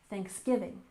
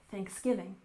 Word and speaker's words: Thanksgiving: off we have Thanksgiving with a stress on the second syllable Thanksgiving Thanksgiving this is a holiday